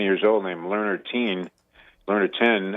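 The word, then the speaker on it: Learner Tien: Learner 10, I believe, is how you pronounce his name.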